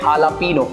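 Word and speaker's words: jalapeño: उसको हम बोलते हैं हालापीनो तो बेसिकली यहाँ जे की जगह हम एच का प्रोनाउंस कर रहे हैं यहाँ पे तो इसको हम बोलेंगे हालापीनो उससे ही रिलेटेड हल्का सा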